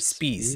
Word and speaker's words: Spies: Mary, we sometimes we call her Mary Spies, but Oh, there were at some point, I think the right way to say it, we were told, is Mary Spies.